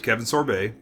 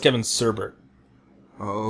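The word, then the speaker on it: Kevin Sorbo: played by Kevin sorb Boy by other standards Kevin sorbet yes Kev what Kevin serber oh is how you pronounced it I was you know like we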